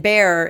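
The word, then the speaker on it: Bexar: black bear pipe band and bear is for bear county and it's spelled b-e-x-a-r so black bear pipe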